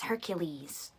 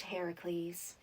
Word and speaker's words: Heracles: I thought it was Hercules. Well, actually, in most translations of the story, it's pronounced Heracles.